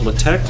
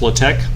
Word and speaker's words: LaTeX: to use something called latech have maybe I'll used latech before besides Jonah latech it's spelled latex but pronounced low-tech so as I hopefully